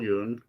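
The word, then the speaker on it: Jung: you spell that again j-u-n-g like Carl Yoon yeah or Neil Young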